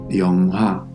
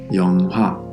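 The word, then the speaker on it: 영화: yeong-hwa, yeong-hwa This also sounds like an H, but the truth is that the sound of HIEUT can vary depending on the consonant in front.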